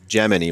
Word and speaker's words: Yemeni: I was born a Gemini, and they named me Gemini, which is how they actually pronounce it. It's with a Y in Spanish.